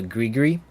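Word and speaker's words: gris-gris: It's called a grigri. I think you drop the S on. I think the S is silent, but I'm not 100% sure.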